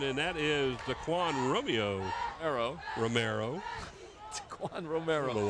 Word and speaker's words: Romero: Well, I think it was me last year that called him Romeo one time. But it's Romero. Romero. At least that's the way it's spelled. R-O-M-E-R-O. Romero. This one's going to be close.